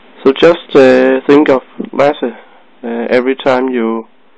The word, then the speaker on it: Lasse: it guys that there's many who says lassy or just or something but it's lassy um L lass some